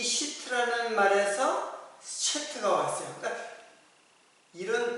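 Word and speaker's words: שֵׁת: 근데 이제 셋이라는 이름인데 셋은 쉐트 쉐트 이렇게 돼요. 그 히브리 발음으로 쉐트.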